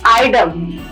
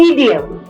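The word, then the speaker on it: idiom: Correct next है इडियम इट इज़ नॉट आइडम। इट इज़ इडियम। हम लोग को ई इस तरह से इडियम नॉट आइडम।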